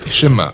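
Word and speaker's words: שמע: Le premier mot du schéma est écouter ou entendre, prononcé schéma en hébreu.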